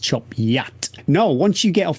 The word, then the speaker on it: Chop Gate: and eventually come to it's spelled chop gate but it's pronounced chop yet no once you get